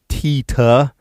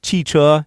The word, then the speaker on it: 汽车: All right, so they have one flashcard here for 汽车, car, but they have the pronunciation on it, tita. Really? Seriously? That's like not even close. 汽车, tita.